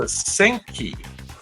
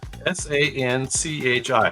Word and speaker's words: Sanchi: This is the Senchi, or Senchi, Sanchi. How would you pronounce that in Indian? Sanchi.